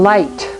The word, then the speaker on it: light: I GH says I as in light. G is silent and so is the H.